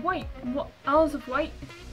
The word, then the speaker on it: Wight: Isles of Wight? It's like white as in white.